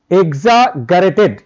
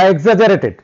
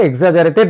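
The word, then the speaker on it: exaggerated: এক্সাগারেটেড response, মানে এটা অতিরিক্ত, এক্সাগারেটেড বা এক্সাজারেটেড, আমরা এই উচ্চারণটাকে এক্সাজারেটেড বলা হয়, response of immune system of a certain subject.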